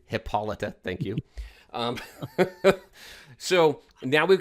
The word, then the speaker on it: Hippolyta: For those of you helping me with pronunciation, Hippolyta, thank you.